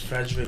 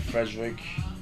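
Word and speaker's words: Ferdwreck: frederick all right well it's spelled f-e-r-d-w-r-e-c-k but i think it's pronounced frederick or frederick i think it's frederick um somebody pronoun correct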